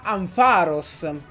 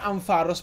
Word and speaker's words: Ampharos: Perché ho scoperto che si pronuncia Ampharos. Già. Sono sconvolto anch'io. Ma si pronuncia Ampharos perché dovrebbe derivare da Pharos, che sarebbe il faro, e Ampere, che dovrebbe essere l'unità di misura della luce. Quindi sì, si pronuncia Ampharos e non Ampharos.